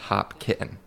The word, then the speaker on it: Hopkinton: Hopkinton but it's pronounced hop kitten like hop and kitten the animal yeah yep really up